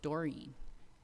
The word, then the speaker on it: Doreen: I always called her Doreen, and I just realized thinking about her and hearing her voice this last couple weeks that she pronounced it Doreen.